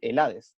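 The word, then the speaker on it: Hélade: Y los griegos, a ellos no se llamaban griegos, se les llamaban Helades, o la Helade, con H al principio y con acento en la E, ¿ok?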